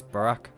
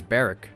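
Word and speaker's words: Barok: Sometimes it's hard to see any warmth in those eyes, Barack. Barrick, there you go. Lord Von Zykes? I've been mispronouncing his name the entire time. It's Barrick, no?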